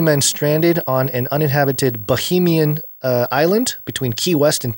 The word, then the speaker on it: Bahamian: I don't think it's Bahamian, is it? It's in the Bahamas. Bahamian. Oh my gosh. I just corrected you. The machine spoke. How'd you spell it? No, look, I just did the speech thing. Bahamian. Okay. But not Bohemian, which is what you first said.